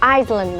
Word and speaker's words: island: I don't even know such a country or island exists. I wonder how he could do it. It's not "i-s-land", it's "island" since the "s" is not pronounced.